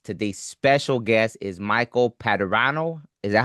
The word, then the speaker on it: Padurano: Today's special guest is Michael Padrano. Is that how you say it? Yeah. Closer than any of my teachers throughout school. So, you're good. How do you pronounce it? Padrano.